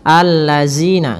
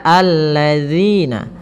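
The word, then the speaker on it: الذين: Kemudian pada lafal zina, hati-hati dalam melafalkan zalnya, jangan sampai kita membacanya dengan zina, allazina, enggak, tapi dia alladzina.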